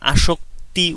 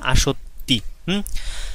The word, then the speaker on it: আসত্তি: আমি প্রথমে বলে নিয়েছি যে এটা অনেক স্টুডেন্ট আসক্তি উচ্চারণ করে, এখানে কয়তয় সংযুক্ত ত ঋষিকার না, এখানে হচ্ছে তয় তয় মানে দুইটা ত এবং হচ্ছে ত ঋষিকার, তার মানে হচ্ছে আসত্তি।